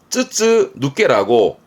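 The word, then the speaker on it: 筒抜け: 통을 시험 때 많이 봤던 부분이 이런게 있습니다 쯔쯔 누께라고 통해서 빠져나옵니다 발음은 빠져나온 거니까 머리미 할 것 같아요 통해서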